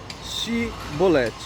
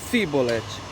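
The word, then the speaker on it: Shibboleth: eles não eram efraimitas, para eles pronunciarem, para eles falarem a palavra Shibolete. Com a linguagem dele, eles falavam Sibolete.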